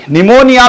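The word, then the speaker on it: pneumonia: चालू होता है नहीं निमोनिया में पी से चालू होता है पी साइलेंट रहता है निमोनिया की स्पेलिंग होती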